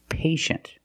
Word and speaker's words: patient: examples patient and initial with patient we see t i e making the sh sound patient the first syllable is a long a like day and P pay and shin the second syllable is a closed sound sh shent patient patient can be an adjective